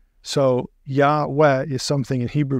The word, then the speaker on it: Yah: it would be ye now we know it should be yah because of the short form so yah is something in Hebrew